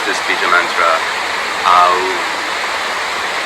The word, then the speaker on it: Aum: But when we do Uccara, we pronounce this bija mantra Aum, spelled A-U-M, or Haum, H-A-U-M, the H being almost silent but riding out on the breath.